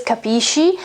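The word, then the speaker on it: capisci: more similar to dialects but in italy it's not i mean it is kapishi and it's absolutely not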